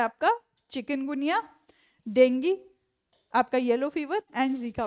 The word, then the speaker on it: डेंगी: होनी चाहिए किसके लिए डेंगी को टैकल करने के लिए ठीक है जी डेंगी भी डेंगी प्रोनाउंस करते हैं वैसे से नॉर्मल टर्म्स में हम डेंगू बोलते हैं तो डेंगी को